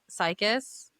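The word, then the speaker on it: Serkis: Andy, okay, if you guys don't know the audio book, Andy Cycus, is that how you say it? Circus. Yes, I believe so.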